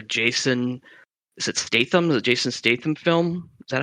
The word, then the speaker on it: Jason Statham: uh like a Jason is it Statham's a Jason Statham film is that how you pronounce his name yep yeah I thought you're